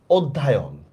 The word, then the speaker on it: অধ্যয়ন: তাহলে সঠিক বানানটা আসলে হবে অধ্যয়ন, ঠিক আছে? এটা কিন্তু অধ্যায়ন হবে না।